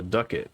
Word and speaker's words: ducket: take the coin too it's called a ducket rhymes with bucket and it seems to